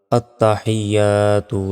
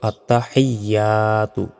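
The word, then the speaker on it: التحيات: আলিফ জবর বা তাসতুবাতু আত্তাহিয়াতু লিল্লাহি সালাওয়াতুবাতু আমরা অনেকে ভুল উচ্চারণ করি বলি যে আত্তাহিয়া এখানে ভুল গেল আত্তাহিয়াতু বলি বলতে হবে আত্তাহিয়াতু লিল্লাহি লাতে এক সেকেন্ড টান হবে আবার বলি এখানে সালা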